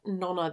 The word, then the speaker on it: Nona: Nona the Ninth, or Nona the Ninth, depending on your pronunciation. I know the audiobook does say Nona, but in my head it's always been Nona, so I can't picture it any other way.